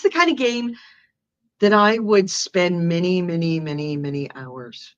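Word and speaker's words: G'AIM'E: Those are the other games. What did you see? Okay. I saw Game, which is spelled G apostrophe AIM apostrophe E.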